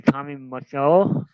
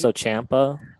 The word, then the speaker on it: Tommaso Ciampa: Uh, I can't pronounce it really. Tommy Macho. Can't put it. Uh, What's it? Tommaso Ciampa.